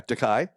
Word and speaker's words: De Kai: Okay, our next talk features Dakai. Is that the right pronunciation? Yeah, Dakai.